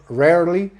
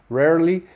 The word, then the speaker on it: rarely: Porque precisamente el sonido de la R en inglés es un sonido más como con la lengua hacia atrás, como como, como si estuviera uno, no sé, como el perrito que está ahí como gruñendo así, que no dice el sino que es un sonido más como adentro. Entonces este rarely, rarely, así suena, ¿no? Rarely. Frequently, esa R no tan fuerte, me acabó beneficiando esta historia, ¿no?